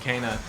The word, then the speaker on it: Kena: Was the fucking game Kena or Kana? Kana. They were pronouncing it Kana.